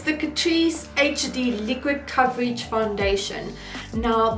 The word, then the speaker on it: Catrice: It's the Catrice, girl, it's bougie, you gotta say it like that. It's the Catrice HD Liquid Coverage Foundation.